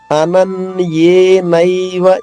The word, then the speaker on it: అనన్యే: మయి సన్యస్య మత్పరాః 3వ చరణము అనన్యేనైవ యోగేన. అనన్యే ఇక్కడ చూడండి, మళ్ళా ఏ సంయుక్తాక్షరం అంటే 2 హల్లులు ఉన్నాయి, నా 1 ఏ 1 దీర్ఘం కూడా.